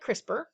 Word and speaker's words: CRISPR: palindromes so the same forward and backwards we pronounce it crispr and cas9 is the specific enzyme we use